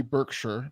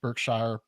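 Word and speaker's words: Berkshire: currently live in Newberry Burkshire birkshire you're not supposed to pronounce it or whatever it's not a shire it's a sure or something um they used to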